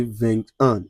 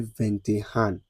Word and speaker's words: vingt et un: So, you don't say vingt un, you say vingt et un.